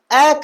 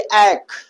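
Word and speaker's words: ache: तो ऐसी जगह आप एच को साइलेंट रखते हैं और हम पढ़ेंगे भैया एक नहीं पढ़ेंगे। हम पढ़ेंगे एक।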